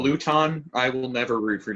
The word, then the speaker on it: Luton: See, that was my mindset last pronounced Luton.